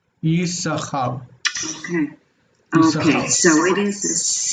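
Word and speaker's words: יששכר: Naturally it would, but we're going to read it as if it's just the one. Yisachar.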